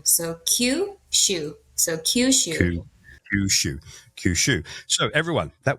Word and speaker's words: Kyushu: So with kushu, what you're going to be doing is pretend that it's the letter Q followed by the word shu. So Q shu.